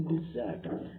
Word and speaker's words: desert: हिंदी में ना बोलकर आप इंग्लिश में बोलेंगे डिजर्ट, डिजर्ट, डिजर्ट, डिजर्ट, डिजर्ट, DESERT, डिजर्ट, डिजर्ट। इसका प्रोनाउंसिएशन में डिजर्ट, मैं छोड़ देना, मैं उसको छोड़ दूंगा, मैं उसको छोड़ दूंगा।